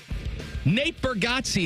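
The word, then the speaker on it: Bargatze: call number eight yeah did I say it right yeah got see I no I'm I'm smiling cuz you got it right okay call number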